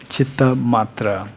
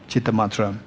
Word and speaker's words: Chittamatra: Chittamatra. Chittamatra. Even to pronounce it is quite technical, right? But you will become expert, don't worry. Chittamatra.